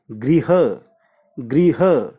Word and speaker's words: गृह: है एक तो यह जब घर के साथ री कि सावन मिक्स होती है तो ध्वनि पैदा होती है गिरी हुई एक और साथ में हर तो शब्द का उच्चारण बनता है गृह-गृह तो पहला शब्द है